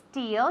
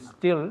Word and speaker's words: steal: could you repeat please of course did they steal your passport at the airport last month no they didn't still no or no no okay don't forget that